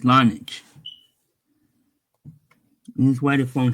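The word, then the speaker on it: Larnach: Lishne? I can't pronounce that name. Let me see. Okay, it's Lonich.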